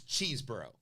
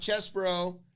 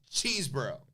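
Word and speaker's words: Chesebro: It's Cheeseborough. Not Chesborough. Not Chesborough. Not Cesborough. Not. It's Cheeseborough.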